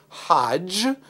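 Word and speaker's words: חג: Note, Sukkot in Torah language becomes, in rabbinic language, Hajj. That's the way our ancestors would have pronounced it.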